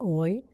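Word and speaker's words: hoy: ده من today فهتبقى اوي، وطبعا الاتش ملهاش لازمة واقفة دايما سايلنت، مش عارفة ليه امتى هتتنطق، انا مش عارفة.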